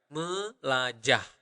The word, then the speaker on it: melajah: Melajah. So you need to pronounce the H at the end. Melajah. Like that, okay?